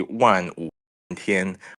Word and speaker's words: Wan Wu Tian: But the Chinese pronunciation would be Wan Wu Tian, but like I think you can try to call him General Wan.